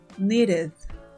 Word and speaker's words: needed: d n al pasarlo a pasado con Ed needed needed needed que significa necesito need es el verbo necesitar vamos con el siguiente pronunciación este verbo también terminan de ad en